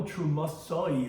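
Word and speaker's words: תרומתי: Now, although trumasai is pronounced in the plural, if you spell the word, it's trumasi. It has a yud. Now, we do it with a comma, trumasai. But it's spelled in the way that you normally read it, trumasi, which is in the singular.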